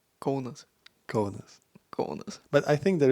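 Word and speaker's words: Kaunas: So if you're in Kas, how do you say I know Kas? You always complain when I say I don't complain. But you're supposed to say conus.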